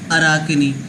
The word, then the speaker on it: Arachne: So please learn the pronunciation of this word which is Arachne.